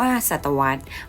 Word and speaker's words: ศตวรรษ: ไป จน ถึง ค.ศ 2029 ศตวรรษ อ่าน ว่า ศตวรรษ หมาย ถึง ช่วง เวลา 100 ปี การ นับ